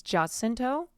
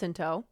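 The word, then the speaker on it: Jacinto: his last name just I think it's jento hard J yeah I know we all Swoon over him it's h okay HTO never mind I was wrong Manny hinto he's beautiful I know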